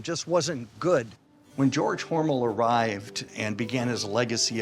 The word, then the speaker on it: Hormel: John mispronounced Hormel. No, Hormel is the company, Hormel is the family. It was changed by the marketing department because they thought Hormel sounded too German.